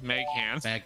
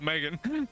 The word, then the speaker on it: Meghan: version of Harry I was reading it very phonetically I'm like who the is Meg hands Meghan Mark L Meghan Markell who the is Megan oh Megan that makes sense I was thinking